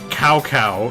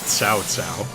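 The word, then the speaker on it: Cao Cao: that you know that cow cow is actually pronounced sow sow so yeah that's my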